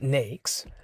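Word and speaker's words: NAICS: what is nakes code a NES pronounced nakes code is a classification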